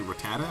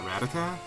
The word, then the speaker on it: Rattata: high power - don't underestimate the rabbit thing Rattata I guess actually hate that the anime corrected me I was watching the anime recently and realized that it's actually Rattata and not Ratatat but man I've been seeing Ratatat since I